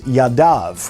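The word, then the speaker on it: יָדָיו: in the Torah is the word Yaddo which means hand it's in the singular but what we pronounce when we are reading this is yadav which means hands so it's written as a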